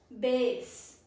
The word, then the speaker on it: bass: Example is he caught a large bass in the lake. He caught a large bass a sea. So saltwater freshwater fish. Then we have this which is known as base.